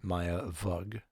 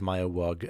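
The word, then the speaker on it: Maya Weug: Tina Houseman, and Khloe Chambers, Dorian Pan, and Maya Vug, which is spelled we uug. Uh, so I'll probably mispronounce it as Maya Wug at some point.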